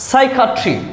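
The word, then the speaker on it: psychiatry: এরপরে সাইকাট্রি, সাইকাট্রি মানে মন সম্বন্ধীয়, এখানেও পি দিয়ে শুরু।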